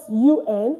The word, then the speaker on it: un: It's spelled UN, but it's pronounced un.